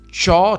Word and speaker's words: c'ho: In questi esempi questa costruzione si scrive proprio così, ci hai, ci ho, ci ha, anche se si pronunciava e si pronuncia ciò, c'hai, c'ha, c'abbiamo, cioè la i non si sente.